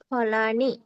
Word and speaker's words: ফলেন: ফলম, ফলে, ফলানি, ফলম, ফলে, ফলানি, ফলেন, ফলাভ্যাম, ফলেহি। হ্যাঁ, দেখুন এখানে তৃতীয় এক বচনে দন্তান্নর নিচে কিন্তু কোনো হসন্ত নেই, তাহলে এটা আমাকে পূর্ণ উচ্চারণ করতে হবে, ফলে না।